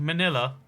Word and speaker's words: Manila: The capital of the Philippines is called Manila, and that rhymes with vanilla.